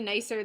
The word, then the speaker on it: Nice: Marseille, we went to Nice. It's spelled nice, but I think it's pronounced Nice.